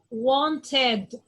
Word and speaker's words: wanted: I'm going to say it like wanted, ed. The ed is going to be like ed, like id.